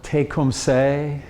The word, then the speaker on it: Tecumseh: where tecumseh you know some people say now take home say a lot of different ways to pronounce it he like terry said